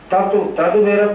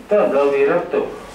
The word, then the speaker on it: तदविरत: इसका उच्चारण कैसे करेंगे? तदविरत, तदविरत नहीं, तदविरत। हम लोग बहुत से लोग अशुद्ध उच्चारण करते हैं, ध्यान से देखें।